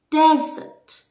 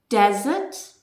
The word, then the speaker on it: desert: difference you can pause me and try to pronounce these words ready one desert dessert desert dessert difference in meaning okay so here you